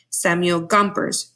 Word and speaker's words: Gompers: workers rights and capitalism Samuel Gompers rhymes with chompers now this outside information